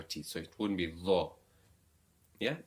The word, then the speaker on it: ظ: Now this is where you stick your tongue between your teeth, Dha, and pronounce with a full mouth, with a rounded mouth.